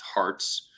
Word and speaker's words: HRTS: Its ticker is HRTS, pronounced hearts.